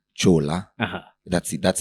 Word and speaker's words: Kyula: ULA, but they go Kyula. So in my native language, I'm Kamba. Yeah. So my native language, how it's supposed to be spelled and pronounced is Chola.